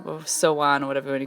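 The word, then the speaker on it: Samhain: Gaelic Irish as well celebration and it's called so on or so on or so on what everybody call it that's how you pronounce that it's spelled s am h AI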